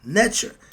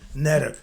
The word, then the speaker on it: Neter: with that elected, to use Budge's phonetic spelling of the word netcher, Netcher, instead of our word Neter. I got a problem with that too. Okay. Why? Because it facilitates ease of reading and pronunciation. Netter, that's it.